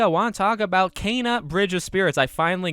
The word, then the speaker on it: Kena: in this video i want to talk about cana bridge of spirits i finally got the name